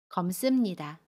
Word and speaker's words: 검습니다: 받침 미음은 그대로 발음하고요. 습은 씀으로 발음해요. 검습니다.